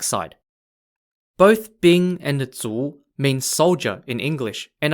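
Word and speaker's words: 卒: if you're on the red side or z-spelled z-u if you're on the black side both bing and the tsu mean soldier in english and are equivalent to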